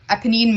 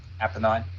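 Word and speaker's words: Apennine: adly adly okay in the aanene mountains am I saying that right appenine appenine mountains thank you um so this was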